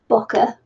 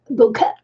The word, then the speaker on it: bokeh: And some of the paintings I do a technique called bokeh or bokeh. I've actually been looking up how to pronounce that, and some people say bokeh, but in Japanese it's bokeh.